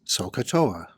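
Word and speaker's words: SOH CAH TOA: to remember how these ratios are defined we pronounce this as sohcahtoa when solving problems involving trigonometry we involve the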